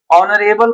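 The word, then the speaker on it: honorable: ऑनरेबल person H से start है। लेकिन एच यहां साइलेंट है।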